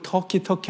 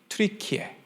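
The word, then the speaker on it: Türkiye: 칠면조도 아니고 겁쟁이도 아닌데 영어 발음으로 자꾸 터키 터키 하니까 이게 안 좋은 거야 발음이 자기들 발음 트리키에 이렇게 바꾼 거야 트루키아라는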